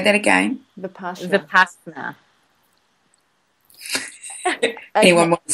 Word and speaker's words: Vipassana: Vipassana. Say that again. Vipassana. Anyone want to spell it?